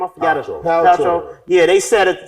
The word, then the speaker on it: Paltrow: How do you pronounce her name? I forgot it. Paltrow.